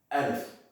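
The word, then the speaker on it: ا: So this is how the letter looks, but this is how it's pronounced. Alif.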